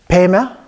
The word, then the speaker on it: Pema: And then we have Pema. Again, the last one, the E is pronounced slightly different. So Pe on the first part, but Meh on the second part, even though it's the same syllable.